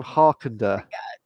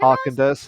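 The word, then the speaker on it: Häagen-Dazs: Get the ice cream Harkender.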